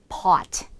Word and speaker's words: pot: 그래서 실제로 우리 커피 포트 할 때 포트가 아니라 pot 이렇게 발음하시면 됩니다.